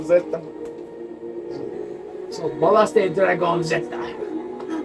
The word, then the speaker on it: zeta: How do you say Z in Spanish? Z. No, Zota. No, Zeta.